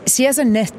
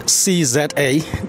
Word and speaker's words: CZA: Well, we actually pronounced CZA, Destination Network, which is... Don't say that now. So no, I got it wrong. And here I was practicing it. So it's CZA.